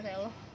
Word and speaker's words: reloj: Nah untuk contohnya itu adalah reloj ya, karena J itu dia tuh hampir dibacanya seperti H, jadi reloj.